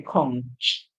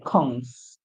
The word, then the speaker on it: conch: So the ch here is actually making a sound like sh. We don't say conch. We say conks, conks, conks.